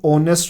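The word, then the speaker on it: honest: ए है जब 80 ऑनेस्ट न बोल दे उन्हें प्रणाम जो ह है उसे साइलेंट होता है एचडी आवाज़ नहीं आंधी है ऐसी ऑनेस्ट बोल रहे हो साउंड कर रहा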